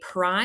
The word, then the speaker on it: pry: Okay, pry is definitely an open syllable. In fact, it's one syllable, so it gets one scoop. It's open because that long vowel at the end, that Y is sounding like a long I. So make sure you mark that it sounds like an I.